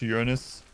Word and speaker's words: Uranus: It's pronounced Uranus.